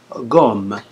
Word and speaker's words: gomme: Ici, gomme. Et bien que le O, c'est une voyelle, le G ne se prononce pas G. Ne se prononce pas je, il se prononce G.